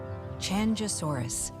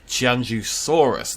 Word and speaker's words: Qianzhousaurus: Now, the pronunciation guide says it's an SH sound. I believe it's more like a harder, like she's pronouncing it with a harder, like a J sound, and I believe that's correct for ZHOU.